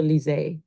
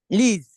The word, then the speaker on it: Liz: Is it Liz or Lise? Liz. Liz.